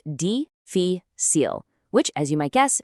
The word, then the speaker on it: difícil: And its opposite is difícil, pronounced difícil, which, as you might guess, means difficult.